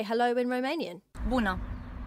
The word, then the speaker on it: Bună: Bună. Bună.